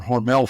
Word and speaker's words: Hormel: Hormal Company and now it's called Hormal Foods or Hormell Foods is what people pronounce it.